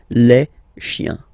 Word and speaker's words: chiens: Remember, chien, singular form, chien, same pronunciation, but you put this S, okay? Final S, not pronounced.